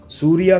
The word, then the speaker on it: सूर्या: सूर्या कहो, सूर्या या सूर्य, जो भी उनके नाम का सही उच्चारण है, उनका तमिल सिनेमा में बड़ा नाम रहा है।